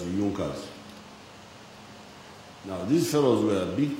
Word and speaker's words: Junkers: It is written as Junkers, but they pronounce it as Junkers.